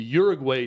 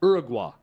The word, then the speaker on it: Uruguay: see the stories at out kick with the Uruguay team going nuts on the officials at the World Cup um I people that know how to pronounce South American countries tell me that it's Uruguay it and I've always heard it as Uruguay